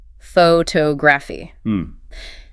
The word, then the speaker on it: photography: The field of study is pronounced with the stress on the second syllable. Photography.